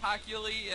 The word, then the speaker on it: Hochuli: I didn't know how you pronounce it. Yeah, it's Ed Hochuli, and then there's a few other guys like Jerome Boger.